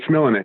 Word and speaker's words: Smilanich: You put an extra syllable in there, Phil, but it's Smilanich.